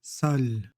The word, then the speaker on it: sol: Pareil, consonne ici prononcée. Consonne اللي كتنطق O. يعني O مفتوح. Sol.